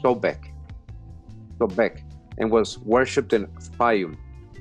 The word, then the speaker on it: Sobek: egypt the crocodile was called right sbk usually pronounced sobek and was worshipped in spain which was a